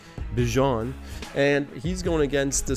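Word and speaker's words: Bijan: Bjon.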